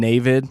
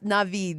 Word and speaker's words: Navid: How do you say it? It's Navid. Navid, And he not told me, Navid. Feliz Navidad is how he's like. Navid. It's like without the Feliz Navid. or the da.